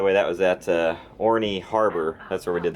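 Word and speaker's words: Orne: was at Orie Harbor like oh r n or o h n e y or something like that pronounced Orie kaying in the polar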